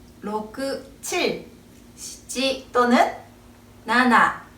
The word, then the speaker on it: なな: 사자를 쓰고 땅지 자를 쓰고 읽으면 시지 지라고 발음하게 돼요 그래서 지보다 나나 쪽을 더 선호한다고 합니다 또 숫자 1과 7을